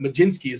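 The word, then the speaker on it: Mlodzinski: taking on the Ray I did go to the pronunciation guide because uh I probably would not have got there staring at his name but maj jinsky we're going with Cho I feel free to go you know you can straight off the board if you want but that is technically the correct pronunciation um what of the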